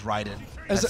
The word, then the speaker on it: Raiden: yeah know say it's you can say Raiden and this is the thing is that like that is not the correct way to say that word like r a i d n is Ryden a who plays both